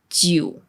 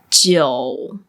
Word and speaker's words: jiu: For example, this is not pronounced as jiu. It's jiu. Jiu. There's an O in between.